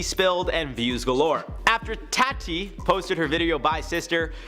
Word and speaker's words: Tati: 10 James Charles and tati Westbrook I say it like tati because last time I called her toddy her Tatty and you guys got mad so I'm emphasizing the tea tattoo the feud between